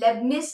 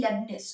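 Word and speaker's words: Leibniz: don't go wrong with this so leian philosophy lebanes is the one who's giving a rebuttal to John Lo John Lo rebut that's actually LeBus okay LeBus is the person who's doing that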